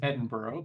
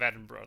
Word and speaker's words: Edinburgh: fix your pronunciation of Edinburgh though oh really H if you ever see b g h at the end of a British place name it's not pronounced burrow oh um even even